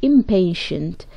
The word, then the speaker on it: impatient: The letter T here is pronounced ش. Don't be impatient.